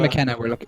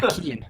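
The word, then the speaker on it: Keane: at here yeah y pardon pardon my um that's an Irish name okay sorry I'll pronunciation there yeah Kean for the for future reference guys anyway Kean is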